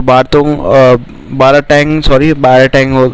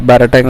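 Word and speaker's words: Baratang: तो बाराटैंग से प्रोनाउंसिएशन ऐसे होगा शायद इसका, बाराटैंग आइलैंड में होंगे, ठीक है।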